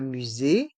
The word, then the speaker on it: musée: E est mué et le S se prononce ze car il est entre les voyelles U et le E accent aigu musé un château dans